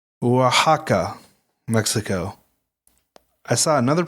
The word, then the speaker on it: Oaxaca: It's Oaxaca, Mexico. I saw another pronunciation that was Oaxaca, or Oaxaca.